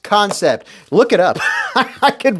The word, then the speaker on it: Kansept: concept yes it's spelled concept but it is pronounced concept look it up I could verify this but